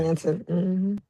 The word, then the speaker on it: Blanton: Blanton, yeah. Is that how you pronounce Blanton? Blanton, Okay.